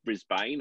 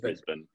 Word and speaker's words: Brisbane: city is brisbane yeah yeah often heard as brisbane i guess i i often hear that said but it's uh it's pronounced brisbane yeah yeah we we i've heard brisbane probably